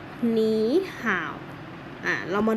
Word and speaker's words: 你好: คำ ที่ 1 สวัสดี สวัสดี ออก เสียง ว่า หมี ห่าว อย่า หนี ห่า ว อ่ะ เรา มา ดู